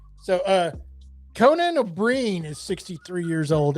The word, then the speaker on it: O'Brien: It's not Brian the first name.